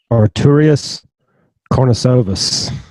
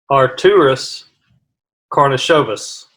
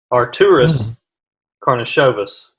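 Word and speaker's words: Artūras Karnišovas: starts to get a little bit more tricky Artorius cornice ovis are tourists cornice oh vyas coupe service is that your final yes what I'm going with alright so it's actually pronounced our tourists Kournikova's are tourists karna Chavez and if you don't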